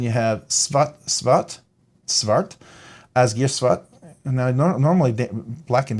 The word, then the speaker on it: Asgeir: asgar or ASG or I'm gonna say as gear I think that's the pronun pronunciation if it was German with the EI it would be ASG but I'll say as gear so this is called